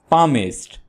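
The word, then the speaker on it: palmist: कहते हैं दलाल को पमिस्ट पमिस्ट कहते हैं द शनास को यानी जो हाथ देखता है आपने याद रखना है कि पमिस्ट में एल को नहीं पढ़ना है एल साइलेंट है ट्रांसलेटर ट्रांसलेटर कहते हैं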